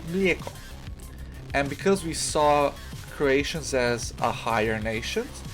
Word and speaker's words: mlijeko: The difference is the J. Croatians use the J, while Serbians just use the I. So they Serbians say mleko, Croatians say mlijeko.